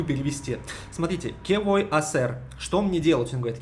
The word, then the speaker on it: hacer: Он говорит «que voy a hacer», а «hacer» пишется как «ха-сер». И «ха» не читается, и получается «que voy a hacer».